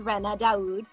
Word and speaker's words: Ranna Daud: Yeah, so my name is Ranna Daud.